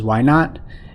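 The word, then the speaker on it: y₀: also write it as y sub zero which we can pronounce as y naught is the initial value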